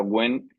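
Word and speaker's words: Nguyen: conozcáis un poco Vietnam guyen que se pronuncia genen es el el apellido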